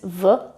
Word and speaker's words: v: you to focus on how I pronounce the preposition v, because it's not always v, it's also sometimes f, as here, v únoru.